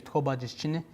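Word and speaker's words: Tó Bájíshchíní: And this is Born for Water, and how you say his name is Tobajischine.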